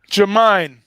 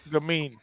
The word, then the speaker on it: Gamine: Jamine. Is that fact? No. Okay. Gamine. I'm gonna say Gamine. Just like game with an NE on it. Gamine.